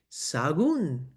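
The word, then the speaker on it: Sahagún: If you make the H silent and those A's kind of run together, it's pronounced sagon.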